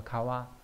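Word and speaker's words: 川: ấy người ta dùng chữ hà đấy cùng đọc là kawa Chứ người ta không dùng cái chữ chữ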